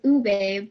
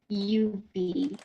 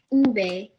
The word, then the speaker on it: ube: pronounced the name it's suppos it's supposed to pronounce Ube but they said Yu or you and I'm like um no so I I politely corrected them on saying it's pronounced Ube and then they asked me what's Ube and